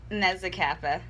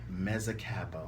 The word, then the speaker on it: Mezzacappa: Can you go ahead and pronounce that for us? Mezzacappa. Mezzacappa.